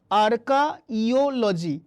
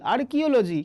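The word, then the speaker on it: archaeology: তাহলে ভুল কোনটা আছে, আর্কিওলজি, আর্কিওলজি ভুল আছে, তাহলে আর্কিওলজি বানানটা কি, আর্কিওলজি বানানটা হচ্ছে আর্কাইওলজি, পরিষ্কার করে মনে রাখবে আর্কাইওলজি, তুমি উচ্চারণ করবে আর্কিওলজি, আর্কিওলজি, কিন্তু তুমি যখন বানান করবে তখন এইভাবে শব্দটার ফ্রেমওয়ার্কটা তৈরি করো, আর্কাইওলজি।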